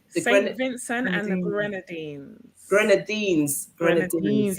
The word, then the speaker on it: Grenadines: Grenadines. You have to skim up your teeth.